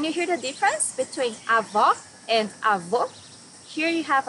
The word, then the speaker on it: avó: Avó, grandmother. Here you need to hear the sound of the last O in the syllable. It should be an open O, as we say in Portuguese. Avó. A minha avó faz bolo delicioso.